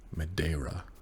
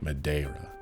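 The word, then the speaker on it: Madeira: How do we pronounce this? The Mada River. Madera. The Mada River. They don't really put the R as much. The Ma River. Madera.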